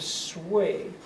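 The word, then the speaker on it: Sui: China is reunified the Dynasty is called the sway and that is spelled s u i Sway in the system that we're using that also is rather short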